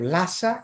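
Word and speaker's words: Lhasa: και οι δυτικοί λάσα αλλά αν θέλετε να το προφέρετε και σωστά εκεί θα πρέπει να ε το πείτε λίγο με δασυνόμενη προφορά. Λάσα. Λάσα. Είναι άλλο πράγμα να πεις λάσα κι άλλο λάσα. Λάσα. Δεν λέω χάσα. Έτσι είναι πολύ ελαφρύ H μετά το λου.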